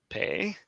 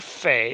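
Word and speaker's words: פ: Pei. Or fe. It's another one of those letters that can have a dot that affects the pronunciation. Dot, hard sound. No dot, soft sound.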